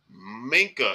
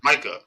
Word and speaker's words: Micah: Minka is not on this list. Minka who? I'm sorry, Micah.